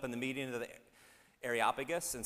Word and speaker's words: Areopagus: a meeting of the I'm gonna get this right areopagus that's how i pronounced it I actually listened to the YouTube video that said how to pronounce it say with me areopagus where they said to